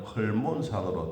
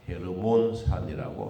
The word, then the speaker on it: 헤르몬산: 우리 성경에는 헐몬산으로 되어 있지만 발음상 헤르몬산이라고 합니다.